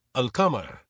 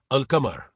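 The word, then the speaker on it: القمر: Arabic, al-qamar. English, the moon. Urdu. Say it clearly as al-qamar. Urdu. The moon. Saf saf kahi, al-qamar.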